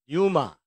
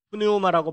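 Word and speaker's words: πνεῦμα: 그다음에 영은 헬라어로 유마 또는 앞에 피자 발음을 묵음으로 하는데 뭐 푸뉴마라고 발음하는 분들도 있어요.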